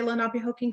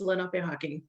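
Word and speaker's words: Lenapehoking: And most people seem to want to say Lenape Hoking. So I've just, been saying that, even though our dialect says Lenape Hawking. But I wanted to go with the flow and with what people are most comfortable with. But so if you hear people say Lenape Hawking, that's why.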